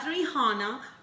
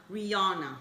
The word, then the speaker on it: Rihanna: this assignment by Rihanna Rihanna not rihana Rihanna yeah she's teaching me